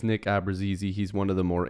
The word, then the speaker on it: Abruzzese: fun but this video nick abrazizy signing a two-year entry-level contract with the toronto maple leafs now i believe that's how it's pronounced with my research that i've done you know over the last